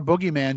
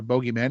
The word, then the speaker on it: boogeyman: grey aliens modern-day fairies are just does our boogeyman just change or bogeyman depending on how you want to pronounce it but does it just change as